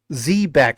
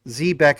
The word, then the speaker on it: Zebec: You see in the background, these ships, those ships are technically Zbeck ships. Zbeck is the right way to pronounce it, but of course the team calls it Zbec, whatever you want to call it.